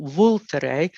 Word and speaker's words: Vulture: So it's the wine is the Aglianico del Vulture. The word looks like vulture if it's spelled in English, but they say Vulture.